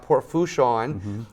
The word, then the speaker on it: Port Fourchon: Make sure I said that right, because I had a joke earlier about Port Fouchon, about how it's spelled. I said it's spelled wrong. It's F-O-U-R. That's not how you pronounce it.